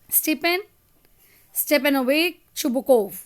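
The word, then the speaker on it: Stepan Stepanovitch Chubukov: सारे बच्चों को जैसे इसका जो प्रोनाउंसिएशन है वो है स्टेपेन स्टेपेनोवेक शुबकोव ठीक है नेक्स्ट है नटालिया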